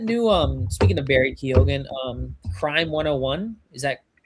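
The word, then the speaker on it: Keoghan: It's pronounced Kogan. Okay. Kogan.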